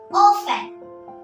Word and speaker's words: often: Often. T is silent and we pronounce it as often.